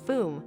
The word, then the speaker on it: fum: woods his name was fum pronounced foom which meant smoke in Catalan the owner was a